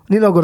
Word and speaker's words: Nina Ogot: Nino Ogot. How do you pronounce that?